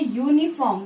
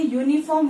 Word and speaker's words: uniform: But when we say uniform, we are not only pronouncing U, we are pronouncing U, Y-O-U. Yes, and this U is a consonant sound. Got it? For that reason, when we say uniform, we always use A